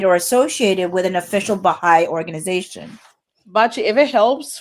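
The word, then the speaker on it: Baháʼí: Baha'i, yeah.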